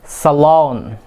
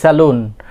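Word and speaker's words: salon: সালন। অনেকে আমরা অনেক সময় আমরা বলে থাকি কি? স্যালুন।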